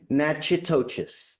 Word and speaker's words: Natchitoches: I butchered the pronunciation, but. Natchitoches.